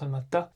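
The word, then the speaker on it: Almaty: C'estcrit Almati mais qui se prononce Almata.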